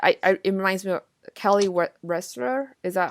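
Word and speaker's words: Wearstler: And in a way too, like when you said that, it reminds me of Kelly Ressler. Is that how you pronounce her Yes.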